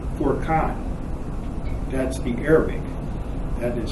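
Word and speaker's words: فرقان: And then there is a word, it's pronounced Furqan.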